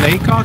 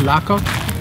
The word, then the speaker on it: Lacock: We are now living in Lacock. It's actually pronounced Lacock, not Lacock.